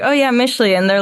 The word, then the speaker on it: Mixtli: was like oh yeah michley and they're like it's actually mix Le like ohre it's actually michley but yeah they they